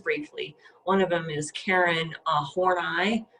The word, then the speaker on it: Horney: One of them is Karen Horney, which I appreciate that proper pronunciation.